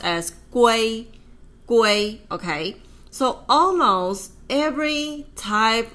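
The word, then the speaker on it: 圭: The U is radical and this part itself without the radical it already pronounced as guay.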